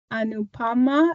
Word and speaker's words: Anupama: Anupama, am I saying that right? That's correct.